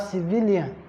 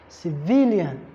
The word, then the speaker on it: civilian: Then you have, for words that end with AN, the primary stress still falls on the 2nd syllable. That's why you have civilian, civilian, civilian.